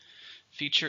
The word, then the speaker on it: feature: Feature is a typical quality or an important part of something. It's a noun. It could also be a verb. How many syllables? 2, stresses on the first syllable.